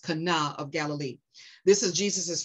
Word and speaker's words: Cana: miracle in kanawha i used to call it cana it's actually pronounced kana and i still may go back to cana because it's a habit praise god but it's actually pronounced kana of galilee this is jesus's first biblically recorded